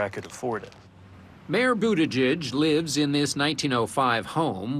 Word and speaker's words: Buttigieg: as pronouncing his name it's Budaj as in boot Edge Edge but the 37-year-old mayor